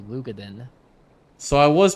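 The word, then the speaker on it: Roegadyn: I always called it Rogadin, but it's actually Lugadin.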